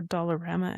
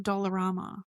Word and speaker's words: Dollarama: We have dollar store educator or Dollarama educator. Dollar Tree. You read this wrong. I had it wrong and I did it again. It's Dollar Tree or Dollarama.